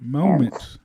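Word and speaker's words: Momence: you spell it m-o-m-e-n-c-e it's like mom moments but moments moments that makes sense all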